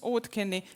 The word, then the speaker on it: Auðkenni: and your language so they ask you to pronounce OD Ken very slowly that they could understand Ken once